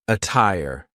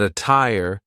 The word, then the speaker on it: attire: a bust and jail the true T sound can also be used when there is a Double T like in the word attire but be careful because a lot of Double T Words will sound like a fast D but a tire is an example of a Double T that